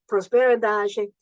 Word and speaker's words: prosperidade: They host lots of events and so forth, but prosperidade is a feminine noun. That's how you say it in Portuguese.